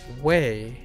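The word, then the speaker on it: 胃: Weey. Oh my gosh. A stomach. Oh, dang it. It's weey again. It's not coal. It's Weey. Stomach. Appetite. That's That's how you That's how you say it.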